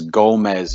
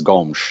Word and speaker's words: Gomes: the comments yes Gomez if you want to pronounce his name gomez you can but just but I'm gonna tell everybody I'm gonna take everybody to school here myself his last name is Portuguese and Portuguese it's Gomes so it's not Gomez